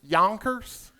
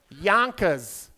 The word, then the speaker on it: Yonkers: Yonkers? Is that how y'all say it? Yonkers? How do you say it? Yonkers.